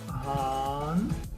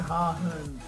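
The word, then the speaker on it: Hahn: це є Ган бачите оця буква не читається ну таке буває буква г яка стоїть після а там наприклад я не знаю чому вона не читається але по ідеї після того якщо вона стоїть після голосної то Ган читається я Ган Бачите як читається на почутиц буква г Ган але не говориться гагн якщо ви скажете гагн вас не поймуть Копенгаген чи що так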